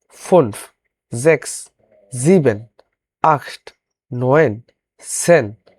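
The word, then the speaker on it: fünf: সেক্ষেত্রে সে অনুযায়ী এখানে ভিটা হয়ে গেছে ফেয়ার ফরের মত উচ্চারণ হবে এবং ফনফমলা উঠের কারণে ঠোট গোল হবে ফনফ জ্যাক্স জ্যাক্স এস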